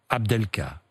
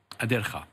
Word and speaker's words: Adelkhah: Pour votre compagne, Fariba Abdelka, qui est aujourd'hui, c'est ça ? Adelkha. Adelkha, oui. Vous prononcez autrement que moi, oui.